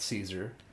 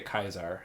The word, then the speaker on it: Caesar: okay so there's uh Kaiser's Legion not Caesar it's how they say it they say kaizar it's this crazy guy